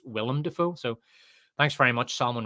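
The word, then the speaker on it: Willem Dafoe: is it pronounced William defo or is it pronounced William defo so I guess it's I guess it's Willam defo so thanks very much Solomon Richards for the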